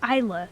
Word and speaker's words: Aila: My name is Aila. Yeah, pronounced like an eyeball, which you see with. It's I.